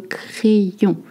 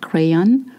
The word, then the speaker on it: crayon: Le crayon, not crayon. Le crayon.